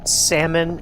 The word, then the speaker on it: salmon: How do you pronounce it? Salmon. The L is silent, you fucking country There is hick. no L, dummy.